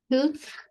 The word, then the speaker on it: should: A pesar de que ustedes vean aquí la L y la O, no se pronuncia. Vamos a pronunciar la SH, la U y la D.